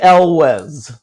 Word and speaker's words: Elwes: Cary Elwes. All right. Yes. The great. I mean, he's not great. The fine. You say Wes, like Wes Bergman.